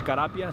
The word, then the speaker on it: Carapia: Once again, your name and spell it. Again, Steve, common spelling. Last name is Carapia, C-A-R-A-P-I-A, Sergeant with the California Highway Patrol Santa Fe Springs area office.